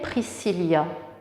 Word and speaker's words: Priscilla: vous épauler par exemple mon prénom je m'appelle priscilla ça s'écrit comme ans priscilla ça s'écrit et r